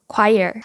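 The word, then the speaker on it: choir: CH 이렇게 읽어야 될까요 사실 맞는 발음은 quire이에요 quire 발음은 을 상상에서 연습하다 보면 실생활에서 잘못 발음하기가 정말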